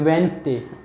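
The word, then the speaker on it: Wednesday: है, बट इनको वेंस बोल देते हैं, वेंसडे, ये ज है।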